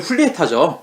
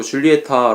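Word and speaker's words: Julieta: 제 먹은 줄리에타 줘 그런데 사실은 이름의 훌리 타죠 예 미국식 발음으로 줄리에타 라고 현역이 됐는데 이런 흐릿하고 맞습니다 감독과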